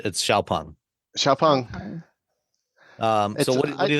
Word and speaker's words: Xpeng: It's spelled Xpeng, but it's Xpeng.